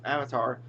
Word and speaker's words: Avatar: And it's not Avatar, it's Avatar.